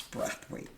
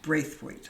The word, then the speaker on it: Braithwaite: I said, "No, ma'am, it's not. It's Braithwaite." "No, it's pronounced Braithwaite."